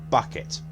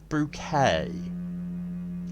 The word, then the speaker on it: Bucket: And the main joke is that her surname is Bucket, but she pronounces it Bouquet.